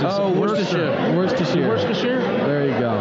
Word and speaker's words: Worcestershire: Worcestershire? There you go. It's not Worcester or anything like that. It's Worcestershire. The city is Worcester. The sauce is Worcestershire.